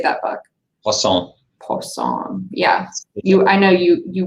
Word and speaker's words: Poisson: Poisson.